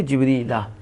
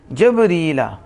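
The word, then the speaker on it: جبريل: جبریلی نہیں پڑھ سکتے، جبریلہ بکسر الجیمی، بکسر یعنی آپ بتا رہے ہیں کہ جیم کے زیر کے ساتھ کسر جیم، اس لفظ کا تلفظ جبریلہ، سمجھ آگئی؟ آگے کہتے ہیں وہ فتحہا، وہ فتح کے ساتھ بھی ہے، جبریلہ، کیا؟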